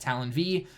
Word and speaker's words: Talon V: on there capital V some people think it means five it just simply means V so it's pronounced Talon V and that's where my